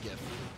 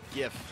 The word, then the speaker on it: GIF: now but it's pronounced gift s see it's a g sound graphic has has a hard G so it's gift it's not J yeah see there you go GIF like Jiff like the peanut butter